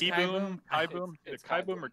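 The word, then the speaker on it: Kieboom: that i'm batting carter kai boom would be my guess you think it's kai boomer boom it's kai boom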